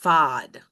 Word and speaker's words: FAD: With the last time he was in Bermuda, they have poachers use something called a fish attracting device, FAD, with the Bermudian accent, that's pronounced fod.